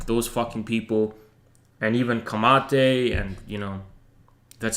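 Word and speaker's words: Camatte: know bordeja and those fucking people and even kamate and you know that's how you pronounce his name and i was reading i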